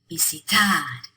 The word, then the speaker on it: visitar: Visitar. The stress is on the tad at the end. Visitar.